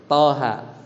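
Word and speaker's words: طه: Toha. Ini bacanya gimana? Bacanya itu ha. 2, ingat 2 harokat. Enggak enggak apa? Toha, enggak gitu. Toha ma anzalnal Qur'an dan seterusnya al ayah. Jadi bacanya itu 2 harokat.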